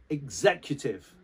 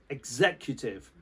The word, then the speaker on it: executive: executive executive okay so it's almost like an egg sound at the start as you pronounce the x executive now an executive